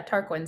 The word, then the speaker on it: Tarquin: Parkland no did you I don't think it's pronounced Tarkin it's q-u-s it sounds bad yeah tarquin sounds right to me yeah it's that I